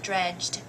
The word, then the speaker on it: dredged: So it must be closed vowel, which means, or syllable, which means the e says eh. Dredge, and then dge says j. So dredged. Dredged.